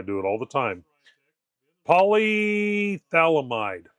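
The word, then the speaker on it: polyphthalamide: Polythalamide. Polythalamide, I think, is how it's pronounced.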